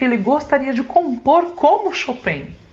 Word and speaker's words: Chopin: Bom, os músicos que, digamos assim, mexem comigo são Beethoven e Chopin, ou pela maioria aqui no Brasil chama de Chopin, mas a forma correta da pronúncia do nome dele é Chopin.